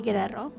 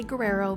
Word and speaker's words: Guerrero: Now, the reason why we're going to say Guerrero is because we roll our R's on this channel. Yes, we're not going to say Guerrero because that's just not how you say it.